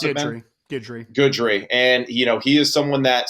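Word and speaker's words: Guidry: Coach Lance Goodry, is that how you pronounce it, man? Goodry.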